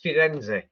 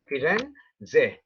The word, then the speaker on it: Firenze: And if you're in Italy, then you're actually going to pronounce its real name, and its real name is Firenze. Firenze.